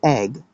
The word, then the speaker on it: egg: It should rhyme with ebb, egg, ebb, but it doesn't, right? It does not. But it does rhyme with hay, egg, egg, egg, hay, a, or you could just say I guess. Egg, egg, egg. It rhymes better, with A than ebb.